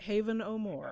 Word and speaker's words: Haven O'More: name, and it really, it's spelled Haven O'More is have no more, and so I called the chapter "To Have and to Have No More."